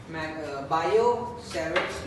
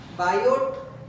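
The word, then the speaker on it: Biot–Savart: सबसे पहले लिखेंगे बायो सेव्स लॉ। अब कोई उसको बायोट भी बोलता है। कोई कोई उसको बायोट सेवेट्स लॉ भी बोलता है। लेकिन टी साइलेंट होता है। जहां तक मेरे को मालूम है।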